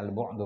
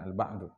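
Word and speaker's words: البعد: Itu bacanya al-bu'du bukan al-ba'du.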